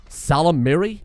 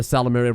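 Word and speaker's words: Ysalamiri: In the multiplayer, there's the Salamiri, I think is generally the accepted pronunciation of it.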